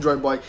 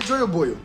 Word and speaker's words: Joyoboyo: O primeiro é Joy Boy, enfim, que se escreve Jaiba, mas dane-se isso aí, isso é informação pra outra coisa.